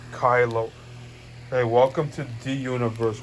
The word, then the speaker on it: Kylo: to see one look kyle no it's pronounced kylo hey welcome to the